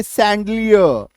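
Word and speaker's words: chandelier: एम ए सी एच आई N machine C एच ई F safe C एच ए एन डी सैंडलियर सी एच ए U double F यू आर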